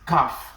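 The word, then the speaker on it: ك: Something like this, calf, K-A-F, calf.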